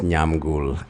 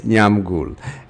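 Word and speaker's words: Nyamgul: My name is Nyam Ghoul. Somebody said, spell that name all the time when you come. Okay, it's Nyam Ghoul.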